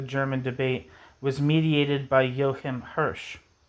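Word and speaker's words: Joachim: debate was mediated by Yohim Hirs. I used to pronounce that uh yahim but I think it's just yohim yohim hers.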